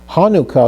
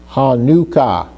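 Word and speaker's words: חנוכה: So with the het were followed by the noon with a kibbutz under that, which gives us an oo sound. Hanukkah, Hanukkah.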